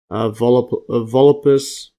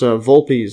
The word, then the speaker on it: Vulpes: Volupus, or actually I think it's pronounced Vulpes, and then Vulpes.